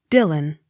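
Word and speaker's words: Dillwyn: the x not sounded d i l l w y n dylan the w y takes the sound of you the accent on first syllable d u c h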